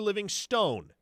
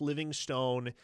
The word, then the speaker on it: Livingston: It looks like Living Stone. It should be Living Stone phonetically, but it's Livingston. As if the E is not there.